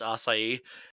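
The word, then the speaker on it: açaí: fiance all the time I know it's assai but I say aai all the time and she gets so mad say say it right again I say big cat I don't ever say it but I would say aai if I said I think Jus it's aai assai not ass assai assai for the purpose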